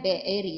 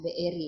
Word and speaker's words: Beeri: Ini bacanya Beeri ya. Ya, Beeri ya.